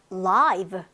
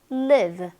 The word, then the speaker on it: live: 얘가 엄청나게 지금 많이 준비가 되어 있는데 일단 live, 살아있는, live, 살다. 요거는 강세의 이동보다는 발음 자체가 달라지는 경우거든요.